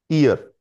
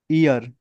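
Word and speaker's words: ihr: clear yes स सर आई एच आर को कैसे पढ़ेंगे ईयर ईयर एच साइलेंट रहेगा सर हमने बात कर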